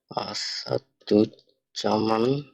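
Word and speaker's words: Asadujjaman: পরিশেষে আরেকজনের নাম প্র্যাকটিস করি, এবার একটা বড় নাম প্র্যাকটিস করি, আসাদুজ্জামান রাকিব। তো এই ওয়ার্ডটা আমরা নামটা উচ্চারণ করি, চলেন।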